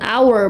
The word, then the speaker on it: hour: Sama kayak gini, an hour bacanya kenapa an hour? Karena h-nya ini dihilangkan jadi bacanya hour gitu, an hour.